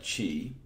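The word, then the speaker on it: qi: quadratic inequality we get q and I which if you're a Scrabble player is now a permissible word and we pronounce that Chi and to solve a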